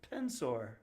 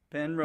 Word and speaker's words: Penrose: uh your topic is the penor process am I pronouncing that correctly pen hose pen hose Penrose penose oh Penrose okay okay oh after the uh researcher Pen Rose yes okay all right